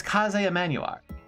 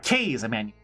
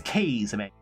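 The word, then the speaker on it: Kaze Emanuar: made by the infamous Kaz Emanuel or sorry K's Emanuel. I always I always pronounce his name wrong the first time. Bad habit of mine. It's K's Emanuel because I I kind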